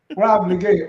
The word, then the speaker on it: Wala Blegay: Let me welcome now the councilwoman, Rob, and I'm being very intentional with the pronunciation. Rob Blegay, welcome.